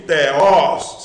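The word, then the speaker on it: θεός: E para finalizar, cai novamente teos, sílaba forte os, sílaba forte os, o aberto, em rologos.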